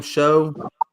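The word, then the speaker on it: Shough: Show.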